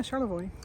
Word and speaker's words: Charlevoix: Left there, went to Charlevoix. Is that how you pronounce it? Yeah, Charlevoix.